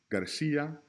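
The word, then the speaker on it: García: Clase is the only word here that should be underlined out of these 3 because Garcia and doce have that S as in Sally sound. They have the soft C. Clase, however, has the hard C.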